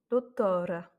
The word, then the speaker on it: doutora: Ensuite, doutora. Donc ici, on n'a ni accent, ni R, ni L, ni I. Donc c'est l'avant-dernière voyelle qui prend l'accent tonique.